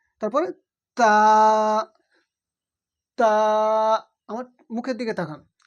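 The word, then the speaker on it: تاء: মুখের দিকে তাকান বা বা আলিফ বা তারপরে তা আমার মুখের দিকে তাকান তা উচ্চারণ হয় জীবের আগা এবং উপরে যে দুই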